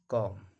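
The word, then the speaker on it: comb: बी के बारे में क्या है कि अगर कोई वर्ड है और बी के पहले एम है तो बी साइलेंट रहेगा। कॉम, इसको कॉम पढ़ा जाता है।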